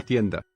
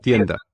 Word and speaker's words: tienda: Tienda. Tienda. They're both unaspirated Tienda. whistle stops.